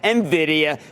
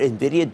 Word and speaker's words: Nvidia: didn't even know what Nvidia does they certainly can't pronounce it they pronounce it like Nivea cream this week those who